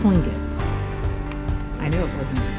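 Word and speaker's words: Tlingit: So the T is a K. He says it's clinging.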